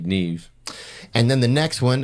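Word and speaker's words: Niamh: one n i a MH um Noah no Neeve NE just NE V Neeve and then the next one another one that's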